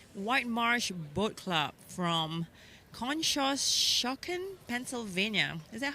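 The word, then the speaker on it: Conshohocken: bound number eight White Marsh boat club from Kos shocken Pennsylvania is that how you say that yes that is how you pronounce it our next boat we have in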